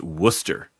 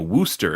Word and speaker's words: Worcester: uh when I was in Massachusetts uh you know it's it's spelled Warchester but it's pronounced Worcester and uh or you know Worooster if you're feeling a little particularly Massachusetts and